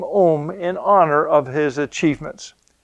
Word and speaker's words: Ohm: physicist and mathematician his name is george ziman om now if we pronounce it according to english tran uh pronunciation we would say george simon ohm he was a school teacher whose research began